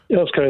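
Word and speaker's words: Earls Colne: Last word on this to Danny, who is in, how do I pronounce that? Earl's Colne. Earl's Colne, that's correct.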